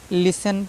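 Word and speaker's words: listen: नहीं भूलना है ठीक है इसको जो है लिसन लिसन पढ़ा जाता है नॉट लिस्टन ठीक है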